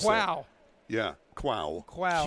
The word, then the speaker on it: Quow: You want me to pronounce that? Quow. Yeah, Quow. Quow. Q-U-O-W.